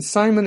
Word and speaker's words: Psimon: Jace, and Simon, and I should mention, Simon is spelled Psimon.